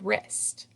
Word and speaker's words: wrist: And there is a silent W in the beginning of the word wrist.